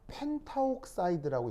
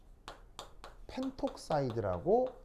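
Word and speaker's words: pentoxide: 그래서 옥사이드가 5개 있어서 펜타옥사이드인데 아까 얘기했던 것처럼 펜타옥사이드라고 얘기를 하지 않고 펜톡사이드라고 말을 쓰는 거예요. 누구를 빼버려요? 발음 때문에 A를 빼버리는 거예요. 그래서 이 경우하고 이 경우에서 그 어근에 A가 빠져 있다는 거, 이것도 같이 살펴봐 주시기 바랍니다.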